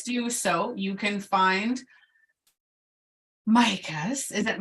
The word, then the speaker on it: Micah: You can find Micah's. Is it Micah?